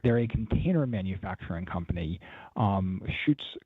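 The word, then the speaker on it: Schütz: They're a container manufacturing company, Schutz container with an umlaut. My German wife would want to make sure that I pronounce that correctly.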